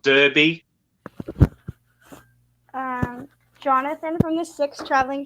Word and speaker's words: Derby: Brits say dar for B for Derby." Yeah. We say Derby here in Australia, not Derby.